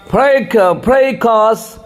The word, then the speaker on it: fracas: तो चलिए आज का वर्ड, और वो पहला वर्ड फ्रेकस, FRACAS। देखिए, एफ से पहले ऊपर लकीर है।